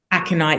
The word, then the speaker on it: aconite: Aconite, is that how you pronounce it? Aconite, yeah. Aconite.